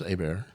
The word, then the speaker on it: Aber: Yeah, it's pronounced Abear. Abear. Aar. My bad. I'm sorry. God damn. I'll restart the podcast now, Um, podcast starts now. Um, yeah. Abear or Abber, we'll tell you the one. Okay. A Bear. Abear is the stage pronunciation.